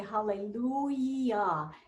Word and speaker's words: hallelujah: we say hallelu j you never say ja hallelujah you say hallelujah and in some languages that e is written j but it's always pronounced e so we have once again